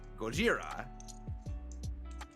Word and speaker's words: Gojira: are Japanese, he insisted, no, I'm using the Japanese pronunciation, Gojira.